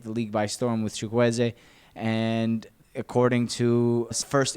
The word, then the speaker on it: Chukwueze: Now, I told you guys I would learn how to pronounce his name, and that's what it is. Samuel Chukwueze is a very exciting right winger.